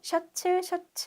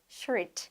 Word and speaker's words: shirt: 우리는 셔츠 하는데 실질적으로 발음은 shirt. 하나면 shirt, 여러 개면 셔츠가 되겠죠?